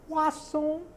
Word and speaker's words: croissant: But the reason I said croissant was a choice, because it's written in the script, C-R-O-I-S-S-A-N-T, croissant. That's how you say it.